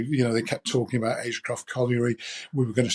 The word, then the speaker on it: Agecroft: There is talk, or at least was talk, of a stadium at that colliery, and I'm going to pronounce it horribly, but Agecroft? Agecroft, yeah.